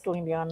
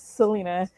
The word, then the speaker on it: Selena: Uh, yeah, it's funny because a lot of people would say my name is Selenion, and I'm like, uh, no, that's not my name. It's Selena.